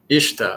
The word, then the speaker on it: Ista: Ista is pronounced Ishta. Okay. Kind of what I was thinking, but I'm learning Spanish, but I'm not too up on other languages. Ishta, Oshka, Mashi. Okay, so you add, I think that I'm saying it right. You add kind of an H sound.